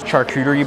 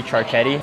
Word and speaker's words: charcuterie: I got this right here, and it comes out in on this huge charcuterie board. Fun fact, I used to pronounce charcuterie charchetti.